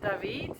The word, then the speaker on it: David: to david it's it's spelled david but they pronounce it david and it's about an hour i guess an